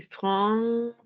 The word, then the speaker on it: francophone: Francophone. Francophone. Habíamos dicho PH es F, ¿cierto?